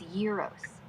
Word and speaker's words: gyros: In Greek, it's pronounced y e e r o like year but shorter with a rolled R and stress on the first syllable. Americans often say j y e r o but the real deal is yearos.